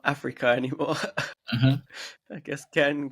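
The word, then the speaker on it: Afreeca: It's a free CA. So it's like a free camera, but they call it Africa, right? I see. That's how you say it.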